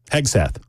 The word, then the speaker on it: Hegseth: Hegseth.